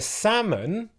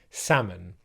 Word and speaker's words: salmon: you could say the salmon are swimming in the stream or if you go to a restaurant you might hear people ordering salmon okay do not pronounce the L sound in this word the second word another